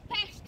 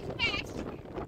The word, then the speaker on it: Pest: We say Pest, not Pest, because Pest is a kind of an epidemic, you know, so please be careful here with this.